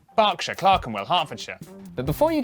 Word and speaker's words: Berkshire: Norwich, Berwick, Southwark, ER is pronounced R. Berkshire, Clerkenwell, Hertfordshire, But before you get too reassured, for every rule Come in the on.